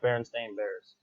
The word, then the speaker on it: Berenstain Bears: It is actually pronounced Berenstain Bears.